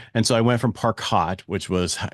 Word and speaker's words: Parcaut: And I went to Parcaut, and I got a lot of from that, but it's the French pronunciation of it.